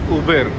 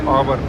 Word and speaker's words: Auber: This is Uber, not Auber. I was pronouncing it as Auber. But in the train she was saying it as Uber.